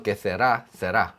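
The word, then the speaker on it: Que será, será: 그다음 스피 노래들 중요하죠 로 케세라세라 4 러 께 쎄라 쎄라 이것은 사실 으 캐 스 라 3라고 우리는 한국에서는 많이 이야기하는데 원래 정식 발음은 렇게 쎄라 쎄라 구요 니 될대로 되라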